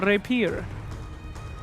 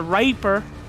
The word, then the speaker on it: rapier: How do you pronounce it? That'd be a uh divine rapier. Okay. Yeah, it's not a raper.